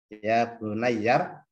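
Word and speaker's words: يَا بُنَيَّ: pernah kita belajar Oh ternyata bacanya yabunayya Thamrin mana y kemarin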